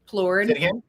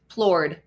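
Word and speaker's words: Plourde: I don't know how to pronounce them. Plurid. Plurid. Plurid.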